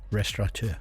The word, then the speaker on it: restaurant: right Terry restaurant Resturant it's a French word isn't it do you say it for me Terry because how do you say it restant that's it I always feel like I want to put the n in there and it hasn't got